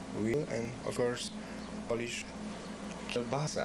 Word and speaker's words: kielbasa: We have beef, we have pork, we have bacon, veal, and of course Polish kielbasa. Kielbasa. If I pronounce correctly.